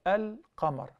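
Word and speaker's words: القمر: Al-qamar. Al-qamar. Al-shams, we don't pronounce the lam. Al-qamar, we do pronounce.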